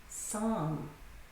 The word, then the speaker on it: psalm: And psalm is interesting because it has two silent letters. Can you tell which two letters are silent? Psalm. Psalm. That's right. The P is silent and the L.